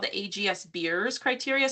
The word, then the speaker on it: Beers: So there's actually a a criterion called the AGS Beers criteria spelled like beers like Coors Light or something.